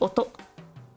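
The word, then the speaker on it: 音: no blips allowed one of my favorite kanji Oto or on or in or this is sound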